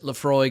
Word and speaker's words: Laphroaig: And one of the big ones is the single malt called Laphroaig. Oh, no, it's Lafroy, or they will come up with a variety of strange pronunciations. According to Brian Cox, it is Laphroaig, as I've always been saying it.